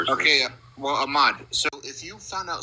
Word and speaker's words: Ahmad: Uh Ahmad, get it right, boy. Ahmad.